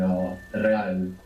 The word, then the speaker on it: real: real real real good when we have an r at the beginning you might hear it like rolling real how do you think